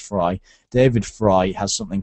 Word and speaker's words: Frey: y okay so it's spelled like Frey e y but it's pronounced fry David fry has something